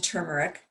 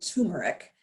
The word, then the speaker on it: turmeric: let's go on to turmeric turmeric is mispronounced all the time most people say turmeric and it actually has an r in there so um you can